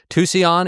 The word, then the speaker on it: Tucson: Tucson is right. Tucson. I swear. Tucson, I'm sorry. I will mispronounce that name for the rest of my life.